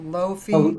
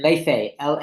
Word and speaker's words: Laufey: How do you pronounce it? Oh, Lofi? oh yeah, Leifei, Leifei. Laufey.